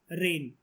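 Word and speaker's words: reign: तो पूरे एशिया में किसके रेन, अच्छा एक वर्ड होता है रेन, क्या मतलब होता है इसका? रेन का बोलते हम लोग रेन है, बारिश नहीं है, लेकिन ये लिखा तो अलग है ना स्पेलिंग।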